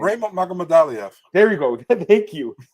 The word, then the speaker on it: Magomedaliev: Tristan Parlater with Raymond Magomed Liev. I can't. That's the guy from Eagle FC, right? I can't pronounce his name. Raymond Magomedaliev.